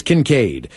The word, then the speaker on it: Kincaid: His name is Kincaid. Pronounced Kin the Hobbit.